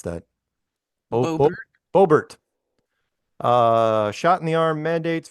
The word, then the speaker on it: Boebert: So Representative Lauren, how do you pronounce that? Boebert.